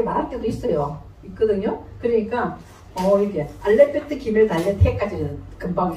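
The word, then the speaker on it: אלף: 근데 이렇게 발음하면 더 쉬워요. 요 피읍을 알렙, 그죠? 그러니까 이제 퍼 발음은 약하게 나가는 거지. 이렇게 알렙 이렇게 되는 거죠.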